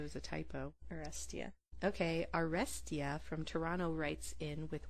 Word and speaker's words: Arestia: Artesia. That's not how it's spelled. How's it spelled? A-R-E-S. Oh, it's Arestia. Sorry. Artesia, like water. I thought maybe it was a typo. Arestia. Okay, Arestia from Toronto writes in with one good reason